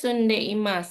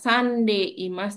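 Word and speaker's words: 住んでいます: Ee dibacanya tetap Sunde Imas. Kalau bahasa Jepang antara tulisan sama ee pelafalannya sama. Jadi bukan dibaca sande Imas tapi sunde Imas gitu.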